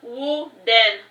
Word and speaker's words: Woden: Any day now, both of those fools will make it official, and the name is pronounced Woden.